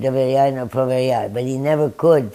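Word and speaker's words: Доверяй, но проверяй: And I said, doveryai, no proveryai. But he never could pronounce it correctly, but he did.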